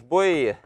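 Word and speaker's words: Bolyai: вот мне обясни что традиционное произношение баль вообще совершенно неправильно с точки зрения венгерского языка что мало того что там нету L Оно ещё и ударение на первый слог вот правильно вот так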